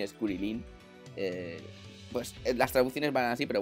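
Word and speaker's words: Krillin: O Krilin, es Kurilin.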